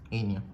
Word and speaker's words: inion: Inion, ¿okay? Se escribe como la palabra minion, pero le quitas la m.